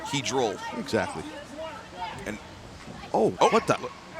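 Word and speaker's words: polyhedral: I mean, polyhedric dye is not going to help him right now. Did I say it right? Hedral.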